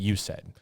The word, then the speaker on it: USAID: I'm pronouncing it USAID. It's an acronym, okay?